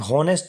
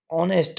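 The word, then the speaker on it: honest: यह होनेस्ट नहीं क्या है? ऑनेस्ट है।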